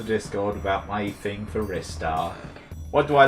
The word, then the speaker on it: Ristar: Yeah, there's Ristar. That's how you pronounce his name.